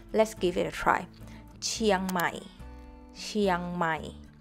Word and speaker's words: เชียงใหม่: Give It a try เชียงใหม่ เชียงใหม่ The Chiang is Just One syllable So Don't Break it down Just ST Chiang เชียง